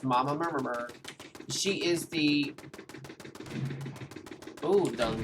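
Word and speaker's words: Mama Murmrgh: I didn't mispronounce that. That's how everyone pronounces it. It's Mama Murmur.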